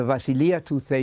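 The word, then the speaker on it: βασιλεία: preach the gospel about the vasilia the kingdom of God I'm using the modern Greek pronunciation in just a moment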